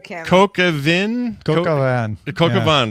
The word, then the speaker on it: coq au vin: Cocavin is how you say it.